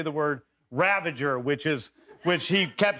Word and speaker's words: Ravager: says, and now the Ravagers and the Ravagers and the Ravagers. And then finally I went up to him and I said, Sly, really, we got to say it right. It's Ravager, not Ravenger.